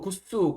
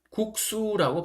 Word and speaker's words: 국수: 그래서 국수 같은 경우에는 국수 굿수 국수 이렇게 발음하시면 안 되고 국수라고 발음하셔야 됩니다.